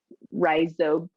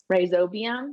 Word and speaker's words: rhizobium: starts with an r rhizobius rise sodium rhizobium yeah thank you um and if that